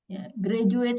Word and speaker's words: graduate: graduate students there graduate Jadi d-nya pakai j graduate student graduate stud ada kalimat